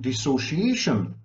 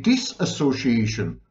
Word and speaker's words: dissociation: be a real Professor you're mispronouncing dissociation it should be disassociation I heard it from this self-styled expert well anyone who uses the word disassociation is not an expert is not an